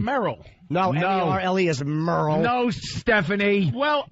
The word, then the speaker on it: Merle: No, M-E-R-L-E is Merle.